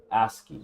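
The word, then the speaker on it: ASCII: as C hi I I how do you pronounce that is it as L2 asky asky so on the asky on the asky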